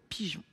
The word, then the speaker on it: pigeon: La lettre G se prononce J dans le mot pigeon.